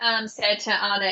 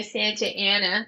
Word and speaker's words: Santa Ana: So we had flown from Santa Ana Airport. Excuse me, I'm pronouncing that incorrectly. Californians would say Santa Ana, but I say Santa Ana as an Australian.